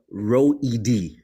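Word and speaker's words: Roed: It's row ed, like row your boat, the letter E, the name D, row ed.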